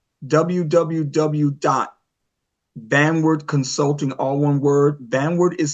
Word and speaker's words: Vanward: Vanward is spelled v a n w a r d.